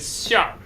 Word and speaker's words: 馅儿: Okay, and next is still related to 火鸡 is 馅儿. 馅儿. 馅儿 is the stuffing of 火鸡. So there are 2 syllables, it's 馅儿, but you combine them together in the parentheses. That's the actual pronunciation.